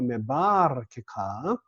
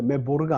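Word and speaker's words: מְבָרְכֶיךָ: 되는데 중복다게스 못 오니까 메바르케카. 그러니까 이거는 보르라고 하실 때 발음할 수가 없어요. 메보르가 아닙니다. 이렇게 나와 있어도. 왜냐하면은 파타그 다음에 중복다게스가 와야 되니까요. 중복다게스 못 와서 보상적 장엄화가 벌어진 거기 때문에 메바르케카.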